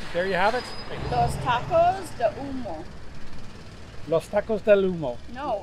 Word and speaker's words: Tacos de Humo: Los Tacos del Humo? No. We're terrible. How do you pronounce the name of the restaurant again? Tacos de Humo.